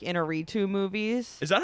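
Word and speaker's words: Iñárritu: a hot take here I don't really like inner retoo movies is that how you pronounce his name I call him AGI all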